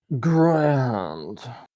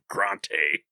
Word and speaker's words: Grante: I like to say it's grand because it sounds just fancy. It's got an accent on the E. You don't pronounce the E. It's a silent E. Nah, it's just grand. Yeah, because you got an E. Grand. So it looks fancy. Grand. See, I always gave him the Dompe treatment and just pronounced that E hard.